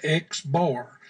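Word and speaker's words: x̄: It is represented by an X with a line across the top of it. That is pronounced X bar.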